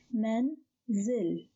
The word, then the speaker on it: manzil: So the first syllable is only men, men. The second syllable starts with zai, which is a moved consonant with kasra, and continues with the lam. It is silenced with a sukoon. So the second syllable is zil, zil. So the word is pronounced as manzil, manzil, manzil.